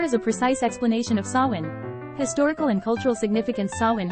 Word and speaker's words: Samhain: Samhain, pronounced sow-in, is a Gaelic festival that marks the end of the harvest season and the beginning of winter in Celtic tradition.